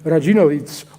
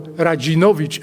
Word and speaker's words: Radzinowicz: And the fact that the region produced some prominent scholars of the discipline, including Sir Leon Radzinowicz, or Radzinowicz as we pronounce it in Polish, did not change that.